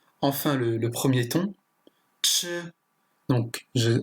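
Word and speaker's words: 吃: Ce caractère se prononce ch, ce qui est le verbe manger. Et enfin, nan, ce qui signifie difficile. Donc on peut voir par exemple que là, c'est le quatrième ton, ch.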